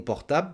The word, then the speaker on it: portable: portable s'il te plaît j'ai encore mangé le elle et le e parce que s'il te plait ça commence par une consonne s s'il te plaît peux-tu me passer mon portable s'il te plaît mon